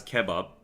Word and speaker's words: kebab: was the right pronunciation I'm pronouncing it as Kebab Kebab like you you put the intonation at the end Kebab like that okay Kebab whatever Kebab